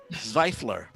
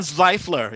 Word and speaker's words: Zvaifler: guest, speaking of Central Works, we have Jan Zvaifler. Am I pronouncing your name right? VV, Zvaifler. Zvaifler. Normie's got it. He's one of the few. Jan Zvaifler.